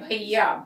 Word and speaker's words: भैया: फिर है भैया, भैया में ऐ की मात्रा, तो ऐ की मात्रा उच्चारण कैसा होता, ऐ, भैया।